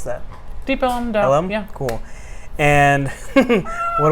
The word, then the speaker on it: Deep Ellum: How do you pronounce that? Deep Ellum.